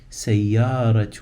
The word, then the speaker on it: سيارة: after the word سيارة, the te came to life and now it's pronounced هذه سيارة من.